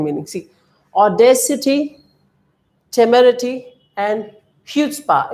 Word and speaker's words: chutzpah: It is HU. It's like there is CHUTZPAH, but we need to spell it chutzpah. It's like HU only. Okay, only HU, no C. So if it were HU, what would you say? Chutzpah. That's the way we need to say this.